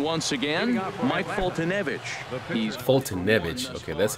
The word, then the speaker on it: Foltynewicz: He's Foltynewicz.